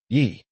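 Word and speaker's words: 一: This character is pronounced Yi, which is the number 1.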